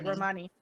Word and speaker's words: Romani: Thank you, Romani.